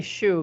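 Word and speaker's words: Zsu: Yeah, she taught me how to say Shu because it's like Jaja.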